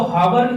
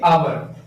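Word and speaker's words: hour: अच्छा, ऐसा ही एक एग्जांपल बताता हूं, आवर, इसको हावर, हावर नहीं पढ़ेंगे, आवर, अ से आवर, इसके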